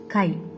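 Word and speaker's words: χ: It is pronounced as chi.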